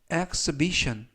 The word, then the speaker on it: exhibition: 입장에 있어라는 뉘앙스가 되겠습니다 이번 표현은 xbition xbition 이라고 발음하시면 되겠고요 이때 유의하실 점은 알파벳 h가 이번 단어에서는 묵음이라서 발음이 되지 않습니다 그리고 앞부분에 있는 ex가 x x 발음이납니다 그리고 끝부분에 있는 tion 4개의 철자가 션 발음이 나서 xbition xbition 그리고 강세는 두